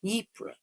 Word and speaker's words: Ypres: Okay, it's pronounced Ypres. Okay, that sounds better than what I said, which is Ypres, so that's not good.